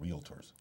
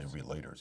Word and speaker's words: realtors: Realtors. You don't say relators, you say realtors.